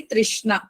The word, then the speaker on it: तृष्णा: object then ट इ कृष्णा बोलते हो ना वैसे ही तृष्णा आप ट्राई करो विषय